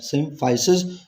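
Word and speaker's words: symphysis: एक सिम्फाइसीज, अगेन सिम्फाइसीज ये plural term है, सिंगुलर इस्तेमाल करोगे तो यहाँ पे आई आ जाएगा और इसको आप सिम्फाइसिस प्रोनाउंस करोगे, और प्लूरल में सिम्फाइसीज।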